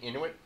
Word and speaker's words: Inuit: No, what I was confused about was, did I say it right? Inuit? The Inuit people. Inuit people. Yeah. Right.